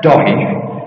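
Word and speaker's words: Dáithí: His name's David, but it's pronounced Doggy, and it's spelt Daifi, much to the consternation of some YouTubers.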